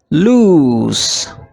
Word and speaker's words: loose: Lose with double O is pronounced as loose.